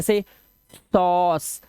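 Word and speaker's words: sauce: नहीं पढ़ रहे भाई किसी भी वर्ड इंग्लिश के वर्ड का रूल है किसी भी इंग्लिश के वर्ड में लास्ट में अगर ई आए इग्नोर कर दो उसे नहीं पढ़ना ठीक है इग्नोर कर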